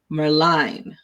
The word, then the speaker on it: Merline: It is pronounced just like the word Merline. Nice.